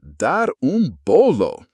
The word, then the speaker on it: dar bolo: The phrase is dar bolo, pronounced dar bolo.